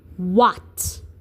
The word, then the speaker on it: what: But wh in a word like in a word like what in a word like what wh would sound like this. You would hear the w and then the h would be silent and then a t.